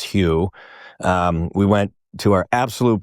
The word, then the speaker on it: Hu: Most people call it Who, even though it's Hugh.